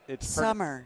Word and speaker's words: Somer: It's Summer. It's pronounced like the season, but it's spelled SOMER.